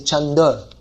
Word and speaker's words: Chandra: Chandra would have to be, but then again they say Chanda. They change it.